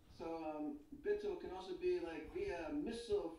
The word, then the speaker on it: Bittul: Bittul can be pronounced several ways. Someone pointed out to Rabbi Shei's tab that one pronunciation can be a tool, be tool, be a tool, be a tool in Hashem's hands, like Avram being a chariot. Bitul is be a tool.